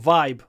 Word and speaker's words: vibe: Russian people talk about Vibe as well Ki Vibe vibe uh Vibes I love the vibe when you pronounce English Vibe it needs a lot of Y you know like y really a lot Vibe Good Vibes let's